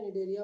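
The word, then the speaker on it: Cnidaria: ये देखिए, एक हो गया आपका कॉलेंट्रेटा, जिसको निडेरिया के भी ये से बोलते हैं, ये सी साइलेंट हो जाएगा, ठीक है। सी साइलेंट होके निडेरिया हो गया।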